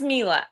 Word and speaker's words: Myla: I know a lot of people say Myla, but it's Mila.